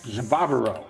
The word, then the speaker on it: Javaro: Last name. Javaro. Javaro. All right. All right. It's actually just like it's spelled.